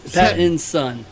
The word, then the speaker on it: Pattinson: Because Robert Pattinson, is it Pattinson or Patterson? It's Patton. Patton's son. Pat and his It's- son. Pat and his it's- son. Robert Pat's his son.